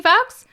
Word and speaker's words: Fuchs: Fox.